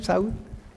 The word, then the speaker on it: Saud: Am I saying it right, Saud? Yeah. As third family, we say like in Arabic.